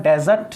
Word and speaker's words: desert: यदि मैं एज a noun use करूंगा तो इसका प्रोनाउंसिएशन होगा डेजर्ट, जिसको आप रेगिस्तान बोलते हो, और एज अ वर्ब यूज करूंगा तो इसका प्रोनाउंसिएशन होगा डिजर्ट।